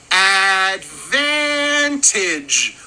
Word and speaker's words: advantage: This is a 3-syllable word with the stress on that second syllable, and we say it as advantage with a j sound at the end.